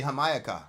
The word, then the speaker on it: Jamaica: used to call me hamayaka because that's how you pronounce Jamaica in uh in uh in in Spanish and so we had